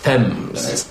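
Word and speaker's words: Thames: L near the river thems TS Val TS you don't pronounce the th it's a very tricky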